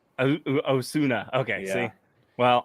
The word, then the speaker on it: Osuna: No, it's actually Osuna. Osuna. Okay, Yeah. see. Well, It's I Hispanic, announced. but it's pronounced Japanese. It sounds Japanese.